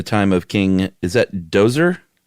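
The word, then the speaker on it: Djoser: Uh during the time of King is that Dozer. That's what I That's how I take it. J is silent, right? Uh Dehoser.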